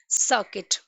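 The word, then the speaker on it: circuit: Okay, सर्किट, सी इसमें भी यू एंड आई एक साथ यूज हुए हैं एंड यू इज साइलेंट।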